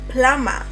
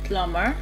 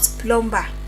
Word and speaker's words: plumber: Rule three, on just random silent b, we have plumber. plumber plumber plumber not plomber, but slumber is still slumber.